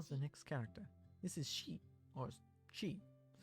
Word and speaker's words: し: This is Shi, or Shi. It's a consonant followed by a vowel and makes up a single syllable. You pronounce this as Shi. Yeah, like the pronoun.